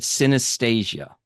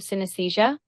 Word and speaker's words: synesthesia: Now, I'm going to spell it because I'm hoping I'm pronouncing it right. I think she said synesthesia.